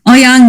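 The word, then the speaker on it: Ouyang: head but um what was the inspiration for woo yang is that how you say it oh yeah oh yeah oh young the general yeah um yeah he has no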